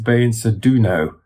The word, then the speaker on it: Beinsa Duno: Peter Deunov, and then his spiritual identity is Beinsa Duno. So it's quite similar. The Duno and the Deunov, or the Deunov, are similar. But the Beinsa Duno is the being, if you like, as I